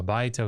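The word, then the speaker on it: הַבַּיְתָה: So if that diphthong aya is accented, if that syllable is accented, then it doesn't switch to the it doesn't contract. Thank you. It does not contract to a.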